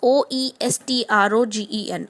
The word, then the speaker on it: oestrogen: In estrogen, estrogen, and you can also use oestrogen. O is silent.